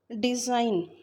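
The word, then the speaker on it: design: डिज़ाइन, जी silent है।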